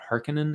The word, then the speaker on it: Harkonnen: that is harkonnen uh i think they call it harkening in the movie i always read it as harkonnen i think it's spelled harkonnen um that control arrakis